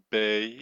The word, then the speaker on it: bey: We have pashas or beys, pronounced bay in B-I-Y.